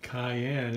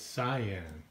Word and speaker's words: cyan: keep the wrong way you keep wanting to pronounce it cayenne and it's cyan Cayenne is pepper I and I love